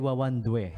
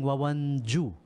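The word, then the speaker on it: Wawandue: Sabi I keep saying Wawan Ju yon. Wawan due pala eh.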